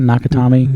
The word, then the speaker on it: Nakatomi: Nakatomi Yep.